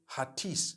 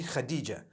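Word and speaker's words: Hatice: In Turkish, some people spell it H-A-T-I-C-E. I would say Hatis for that. No, it's actually Khadija.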